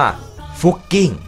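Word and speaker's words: Fucking: แต่ ความ จริง แล้ว มัน อ่าน ออก เสียง ว่า ฟุ กิ้ง นะ ครับ เป็น ภาษา เยอรมัน และ มัน ก็ ไม่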